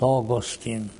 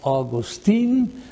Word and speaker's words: Augustine: Augustine. You can pronounce him August Augustine or Augustine. It's all the pronunciation is up to you.